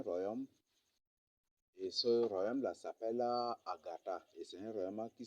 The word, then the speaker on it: Ngarta: Et ils ne disent pas Ngata, mais ils disent plutôt Agatha.